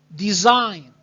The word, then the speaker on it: design: Now, design. Design. Now remember again that G is silent.